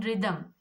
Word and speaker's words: rhythm: Now in rhythm, rhythm also H silent.